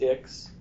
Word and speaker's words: Ix: of them are, but House Ix, and that is how you pronounce it. House Ix is one of the houses of the ruling four, now, which Thane is a part of.